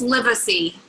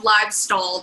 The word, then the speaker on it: Livesay: But I'm excited tonight to have Livesay. Am I saying that right? No, but nobody ever does say it right. It's Livesay. It's nothing like it looks.